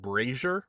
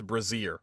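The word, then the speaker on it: brazier: book I did where I was pronouncing the word braer like the fire pit thing as as braier the whole book braier the whole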